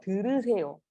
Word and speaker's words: 들으세요: 잘 들으세요. 잘 들으세요. 들으니까 your mouth is like 들으. The only thing that is moving is your tongue. 들으. So see, my mouth is not moving, right?